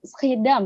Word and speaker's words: Schiedam: Benar nggak sih Mbak pengucapan Putri Schiedam atau bagaimana sih pengucapannya? Schiedam ya, Schiedam.